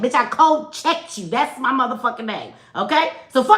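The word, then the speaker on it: Kulczyk: It is cold. It's a Polish name. That K U L is cold, right? CZ Y K is check. Cold check.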